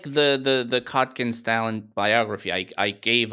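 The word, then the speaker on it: Kotkin: Stalin biographies by right Stephen cotkin I think is how you say his name yes uh yeah cotkin yes and uh you know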